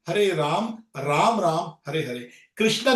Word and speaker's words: हरे कृष्ण: शुरू कर दीजिए बस हरे कृष्ण हरे कृष्ण कृष्ण कृष्ण हरे हरे हरे राम हरे राम राम राम हरे ये रामा नहीं है कृष्णा नहीं है हरे कृष्ण इसका उच्चारण ठीक तरह से करिए कई बार लोग बोल